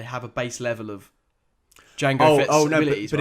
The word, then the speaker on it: Django: well, if they're all clones of Django, right? Then surely they're never really rookies. Why don't they look like Jamie Foxx? I was thinking the same thing. It's true. Yeah, the D is silent.